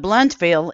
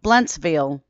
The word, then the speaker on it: Blountville: mountains, the town of Blountville is sometimes called Blountsville. The OU sound is not pronounced like in the word house or house, and the O is silent.